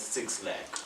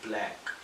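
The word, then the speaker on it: 6lack: His name, you're not wrong for pronouncing it 6 Lakh. Is it black or 6 It's Lakh? black.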